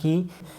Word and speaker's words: ক: এখানে ক, এই ব্যঞ্জন বর্ণটি উচ্চারণ করতে গেলে এই কয়ের সঙ্গে একটি অ ধ্বনি উচ্চারিত হয়। আপনারা উচ্চারণ করুন ক ক, কয়ের সঙ্গে একটি অ ধ্বনি উচ্চারিত হচ্ছে। এই কয়ের সঙ্গে অ ধ্বনি যুক্ত হওয়ায় আমরা কয়ের সঠিক উচ্চারণ পাচ্ছি। ক থেকে যদি অ ধ্বনি বাদ দেওয়া হয় তাহলে কয়ের উচ্চারণ আমরা পাবো না।